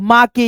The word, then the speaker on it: make: जैसे यहाँ पे MAKE है तो यहाँ पे आप माँ के या मे के इस प्रकार से नहीं पढ़ेंगे, केवल दोस्तों मेक पढ़ेंगे, यानी ई को लास्ट